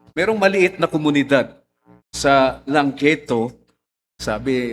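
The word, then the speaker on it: Llangeitho: maliit na komunidad sa Langketo, Sabi, ang bigkas daw nito Klangketo. Pero double L kasi, wala naman letter C. So, Klangketo, kung saan ang pangangaral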